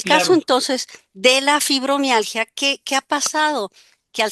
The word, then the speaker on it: Fibromialgia: poco, como algunos de mis pacientes dicen, hasta pronunciarla es difícil. ¿Fibro qué? Fibromalgia, ¿fibro qué? Fibromialgia, ¿verdad?